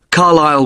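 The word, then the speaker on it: Carlisle: You don't pronounce the S. Carlile way.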